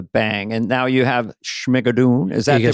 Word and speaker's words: Schmigadoon: And now you have Schmigadoon. Is that the pronunciation? Schmigadoon.